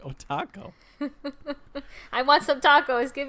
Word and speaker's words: otaku: jellyfish jellyfish Oh taco and you say Oh taco otaku okay it's like Oh taco I want some tacos